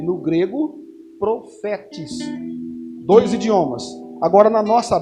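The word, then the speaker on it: prophetes: Profetes, porque o PH se pronuncia F, então é profetes.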